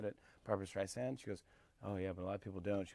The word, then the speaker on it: Streisand: which I always do but it's Barbra Streisand did I say Barbra Streisand earlier that's the big thing not zan sand on the beach yeah I go okay